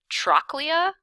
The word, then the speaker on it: trochlea: Did we say trochlea? Because if we did, we were right.